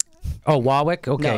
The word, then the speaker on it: Warwick: And it's pronounced Wawwick. Oh, Wawwick.